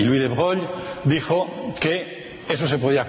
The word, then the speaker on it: Broglie: francés Louis de Broglie, creo que se pronuncia Broglie, es un embrollo el pronunciarlo porque el nombre es de origen italiano y si fuera italiano sería Broglie, pero como es francés pues hay que pronunciarlo a la francesa, de Louis de Broglie.